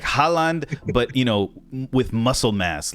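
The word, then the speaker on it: Højlund: HOJLUND. And you just leave the D off.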